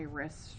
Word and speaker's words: wrist: is because I twist you might think about the word wrist right wrist we twist and that as a silent W as well vs.